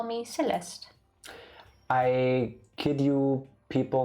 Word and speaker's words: Celeste: you to call me celeste the e is silent at the end it's celeste celeste who's the one saying